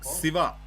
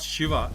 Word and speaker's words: Siva: And I'll tell you what, Ryan, in in the Telugu pronunciation, we don't have Sh. It's it's civa, not Shiva.